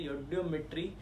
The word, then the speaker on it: eudiometry: देसी अंग्रेज है इसलिए बोल देते हैं ई, हम लोग पहले लेके चलते हैं, जबकि यहाँ साइलेंट है। योडियोमेट्री आपके पास एक मेथड